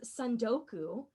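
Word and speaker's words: tsundoku: during my studies um was soku with a silent T so it's spelled TS u n d o o KU I was gonna say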